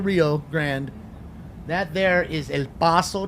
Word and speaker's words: El Paso: Grande that there is El Paso Texas I said it right not El Paso so we're there let